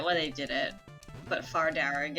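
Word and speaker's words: Fear Dearg: they did it but far darag is not spelled like that okay how is it spelt uh far is f-e-a-r and derrick is d-e-a-r-g okay um it means red men in irish ah wow that is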